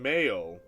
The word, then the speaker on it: Mayo: The name is from the Irish, pronunciation Mayo. Oh, Mayo? Much like the condiment, okay.